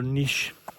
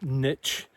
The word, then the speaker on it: niche: I was just thinking about how photographers find their niche. Not, as the Americans say, by the way, niche. Right, what is that? You've got to find your niche. That is not a word, right?